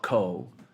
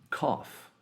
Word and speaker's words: cough: what is this word it's not Co this sound is cough so here the GH at the end of the word creates an f f sound so here we have